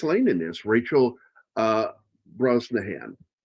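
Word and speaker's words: Brosnahan: Rachel uh Broahan. A lot of people they look at her name and they don't know how to pronounce that name. It's it's Brazan.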